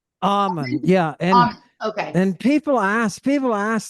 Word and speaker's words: Ammon: Ammon, yeah, Okay. and people ask, they're like, "Oh, you made up that?" No, it's my middle name, man. So, yeah, I that's what I use. Ammon.